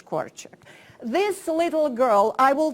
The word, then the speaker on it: Korczak: Association, that is to practice pronouncing the word Janusz and then Korczak. Because whatever it is pronounced in this hemisphere, it's always wrong. So, so let's try it together. Janusz Korczak. Korczak.